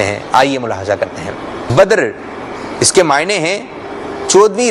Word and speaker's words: بدر: کچھ لوگ اس نام کو کہتے ہیں بدر، تو بدر جو ہے وہ درست نہیں ہے. درست تلفظ ہے اس کا بدر. کیا ہے درست تلفظ؟ بدر.